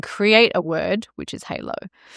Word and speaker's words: Haleau: the beginning and create a word which is halo and I knew that it would require a level of education so that people knew how to pronounce it correctly.